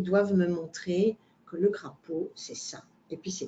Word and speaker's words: crapaud: Le crapaud, on ne prononce pas le D, comme le canard, on ne prononce pas le D.